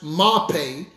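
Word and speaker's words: מרפא: The word health that's used here in the Hebrew is the word mape. It is spelled M-A-R-P-E. It's pronounced mape.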